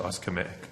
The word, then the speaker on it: ischemic: and their stats show that how do you pronounce it? Ischemic.